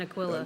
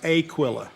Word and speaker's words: Aquila: So now I'm an Aquila. Wait, you didn't say that right. It's Aquila.